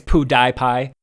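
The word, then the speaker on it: PewDiePie: I think it's Poo Die Pie.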